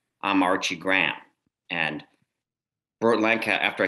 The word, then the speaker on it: Graham: that and and he he explained that it was graham which is sort of three syllables instead of graham which is one the way i was